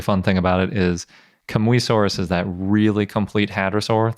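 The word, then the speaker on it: Kamuysaurus: and I can be pretty confident in that pronunciation and especially fun thing about it is Kamui Soros is that really complete hadrosaur that we had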